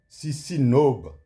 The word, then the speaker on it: CISINOB: Sino Burkina de Ciment en abrégé Sisinob. Si no qui s'écrit C I S I N O B.